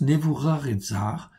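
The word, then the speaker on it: נבוכדנאצר: cas nevoux rares edzard on prononce nevoux rares et zares ok c'est nîmes et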